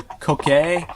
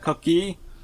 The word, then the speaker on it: Koke: group of mechanical beings known as the Koke, I think is how you pronounce that, Koki? Azani, clarify. Okay, cool, I was right the first time, the Koke.